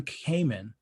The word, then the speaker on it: Kamen: Red Sonja, Hannah John Kamen, who you might know. That was going to be Scarlett. How is it pronounced? Kamen? I think it's pronounced Common. I believe.